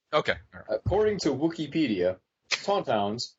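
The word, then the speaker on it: tauntaun: all right so okay according to wook pedia tonon pronounced Tonton were a species of non-sentient lizards native to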